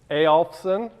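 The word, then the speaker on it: Eyolfson: So apparently you're supposed to pronounce it Eyolfsson, but screw that, I don't do that, so I don't expect you to do that either. Easy way to pronounce it. Christmas is thankfully at the end of the semester. So Elfson, Elfson, that's how you pronounce it, nice and easy.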